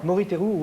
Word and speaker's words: Moriteru: Alors, Moriteru, prononcez bien. Moriteru Ueshiba.